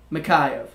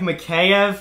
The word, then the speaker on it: Mikheyev: dark Elia mahai of mikheyev that's actually pretty darn good Brody Elia I think it's mikheyev okay I think Mackay F is the actual pronunciation but you were close